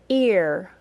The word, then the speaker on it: ear: sound listen again year now try this ear that was ei R ear say both of those